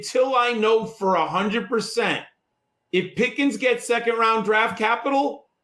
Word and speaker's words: Pickens: So, and John and Dan, people forget that Pickens rhymes with Higgins.